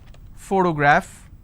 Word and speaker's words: photograph: first sound for example if I have the word photograph again I have first sound so just because